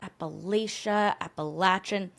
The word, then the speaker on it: Appalachia: in New Jersey and we would call it like the Appalachian Trail, but we're gonna try to stick with Appalachia as the pronunciation since that's how they say it in the southern US states where most of these stories come from.